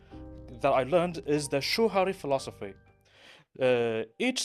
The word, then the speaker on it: shuhari: Even one of the best things that I learned is the shuhari philosophy. Each syllable, shuhari, Shuhari.